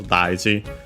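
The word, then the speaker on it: 大事: Accent on the first mora, this one, the second most common accent for those, daiji.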